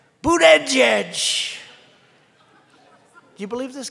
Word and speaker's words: Buttigieg: I think -- I think it was Buttigieg. (laughter) Buttigieg. They said, "Think of it as 'boot' and then 'edge-edge.'"